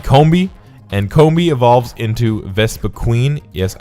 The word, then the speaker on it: Vespiquen: And Combee evolves into Vespiquen. Yes, I say it like Vespiquen, but apparently it's pronounced Vespiquen. So, or Vespiquen. Anyways, Combee can only evolve into Vespiquen, if it's a female.